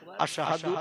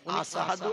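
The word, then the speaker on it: أشهد: এই আশহাদু শব্দটা শিন অক্ষর দিয়ে উচ্চারণ করতে হয়। তিনি শিন অক্ষর উচ্চারণ না করে সিন অক্ষর উচ্চারণ করতেন।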